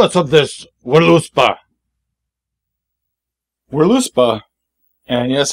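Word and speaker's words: Völuspá: of this willow spa we're loose bah and yes i'm pronouncing it with the w because they don't have v in norse or german so i'm saying we're loose bah i'm probably wrong but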